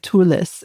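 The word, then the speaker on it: Katulis: This came from Brian Culis. So tell me first of all, did I pronounce his last name properly?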